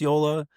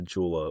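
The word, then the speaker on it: Joola: You put the J there. How are we supposed to know? It's pronounced as a Y.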